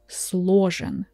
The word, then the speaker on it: сложен: Instead of saying сложен, we say сложен, which is easier for us and for you to pronounce this word.